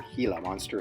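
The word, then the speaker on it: Gila monster: is known as a Gilla monster a Gilla monster a Gilla monster or hila monster if you want to pronounce it the Spanish way is a lizard and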